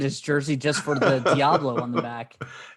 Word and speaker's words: Diablo: I mean, I would almost get his jersey just for the Diablo on the back. It's Deablo. So I assume that's how it's pronounced.